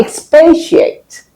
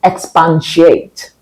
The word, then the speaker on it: expatiate: What about expatiate? Expatiate, not expansiate.